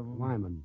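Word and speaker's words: Weyman: Wyman.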